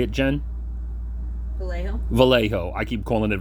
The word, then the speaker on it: Vallejo: Vallejo. Vallejo. I keep calling it Vallejo. It's a Vallejo.